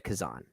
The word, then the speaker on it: Kazan: the history of one Elia Kazan or Kazan I guess is is how you pronounce his name i' I've heard it